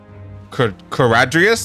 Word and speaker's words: Kuradrias: Kuradrias. That's how has been pronounced the whole time.